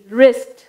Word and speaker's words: wrist: Next விரிஸ்ட், WRIST, ரிஸ்ட். நம்ம அதை எப்படி ப்ரொனவுன்ஸ் பண்ணுவோம், ரிஸ்ட், WRIST, ரிஸ்ட்.